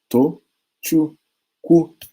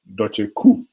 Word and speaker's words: Tochukwu: I break it into 3 syllables for you. To, chu, Ku. And in doing that, you saw them most times, I stopped them from murdering me because they murder me. They say, Doche Ku.